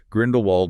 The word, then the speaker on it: Grindelwald: They mention a specific YouTuber, Morgan Ross, who apparently now pronounces Grindelwald with a V and Florence without the E.